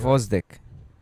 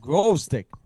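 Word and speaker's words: Gvozdyk: which made it very difficult to pronounce. In Oh, yeah, you're right. Gvozdik. Yeah, I was like, what? I said it good. No, you fucking butchered. Guy it. you- I said you, grove stick.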